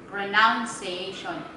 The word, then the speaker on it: pronunciation: Pronunciation. Pronunciation.